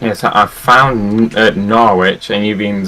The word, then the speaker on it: Norwich: sounds like porridge, but it's not. It's Norwich. Well, it's not Norwich. The only reason why it's not Norwich is because there's a Northwich near me.